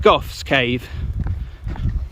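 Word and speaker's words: Gough's Cave: That might be pronounced Goff's Cave, just to let you know.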